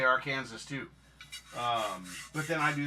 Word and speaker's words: Arkansas: Say it like I'm from Arkansas. And yeah, why do we say Arkansas, but it's Kansas? Why isn't it Arkansas?